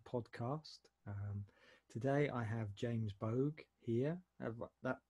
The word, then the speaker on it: Boag: to the second podcast today I have James bug here that pronounced that right yeah yeah and today we're